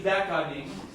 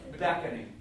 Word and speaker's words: beckoning: Oh, If you think about the schwa in beckoning, you're doing too much, right? It should be a throwaway syllable.